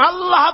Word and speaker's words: আল্লাহ: আল্লাহ পাকের নাম হচ্ছে আল্লাহ আল্লাহ আল্লাহ মুখটা একটু গোল হয়ে যাবে বলেন আল্লাহ আল্লাহ